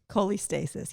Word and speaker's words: cholestasis: a good one yeah okay okay can you pronounce it probably not but you'll know what i'm saying cholestasis cholestasis yeah you said it right good job all